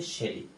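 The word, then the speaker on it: Shelley: এই লেখকের নাম হচ্ছে পি বিলি। এটার উচ্চারণ হচ্ছে শেরি।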